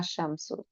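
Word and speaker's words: الشمس: যে তাসদিদ দেওয়াই থাকবে, এটা থাকলে এখানে আর লামের উচ্চারণ করা যাবে না, তখন সরাসরি হচ্ছে এটাকে ডাবল করে, যেমন আমি বলছি আশামসু।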